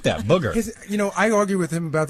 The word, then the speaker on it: Bougher: That's Booger, not Booker.